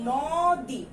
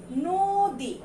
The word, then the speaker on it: নদী: এটার যদি আমরা বানান রূপ যেটা দেয়া আছে সেটাই যদি উচ্চারণ করি তাহলে হবে নদী, কিন্তু আমরা তো নদী বলি না, আমরা এটার সঙ্গে কি বলি? এটাকে আমরা যখন উচ্চারণ করি তখন এটাকে আমরা বলবো হলো নদী। তাহলে নয়ের সঙ্গে কি হবে? একটা ওকার যোগ হবে নো, এবং দয়ের সঙ্গে যে দীর্ঘিকার আছে সেটা কি হয়ে যাবে? ঋষিকার হয়ে যাবে, নদী।